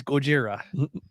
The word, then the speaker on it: Gojira: same thing gojira it's gojira that's probably not appropriate no there's a band named gojira so it's okay and that's technically how it's pronounced right yes okay we're